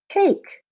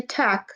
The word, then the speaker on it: take: We don't want it to say tack, so you put the magic E or silent E at the end to make the A say its name.